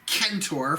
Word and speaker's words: Centaur: Really, it's pronounced Kentor from the Greek.